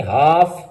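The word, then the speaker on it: half: इसी तरह एफ की मिसाल हम देख लें कि हाल्फ लिखा हुआ है लेकिन पढ़ेंगे हाफ।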